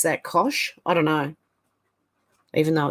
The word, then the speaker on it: Koch: It was Coke. Yeah. I would have, in Australia, we'd probably pronounce that Kosh. I don't know. Even though it's a CH. But yeah, Coke.